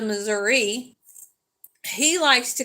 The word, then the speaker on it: Missouri: because a lot of people are known for saying um Missour instead of moury he likes to call